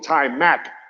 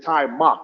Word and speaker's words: Timeout: So Timeout is my best friend, even though people call him Time Mac, but it's Timeout. That's the proper pronunciation.